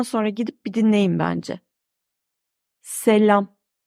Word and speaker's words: selam: Selam. A şapka kullanmadığı halde ince. Selam. Eğer ince okunmasaydı bakın şöyle olurdu. Selam. Ama hayır. İnce okunuyor. Selam.